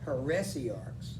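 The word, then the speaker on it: heresiarchs: those are that and i mispronounced it it's heresy arcs like you see the word heresy in it peressie arcs so that makes more sense all right we'll turn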